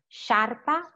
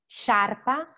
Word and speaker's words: sciarpa: Suono dolce is follows the same rule, SC più E, SC più E, is sh, so is she and she, sciarpa, pesce, sciarpa, pesce, okay?